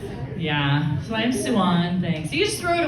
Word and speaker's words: Suwon: Susie um I my name's not Susie it's suan that's how you and so like no everyone